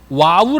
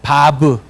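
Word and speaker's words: וָו: 때 저희는 여이 걸으려 와우 라고 배웠어요 와우 영어식으로 와우 w 와우 라고 배웠거든요 그런데 지금은 정확한 발음이 이것이 바 부의 바부 그리고 b 음각 않아요 바브 그리고 이응 발음이 게이의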